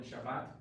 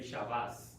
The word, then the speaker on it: Shabbat: For example, the word Shabbat, that's Ashkenazi version Shabbat. The Sephardic, they say Shabbos.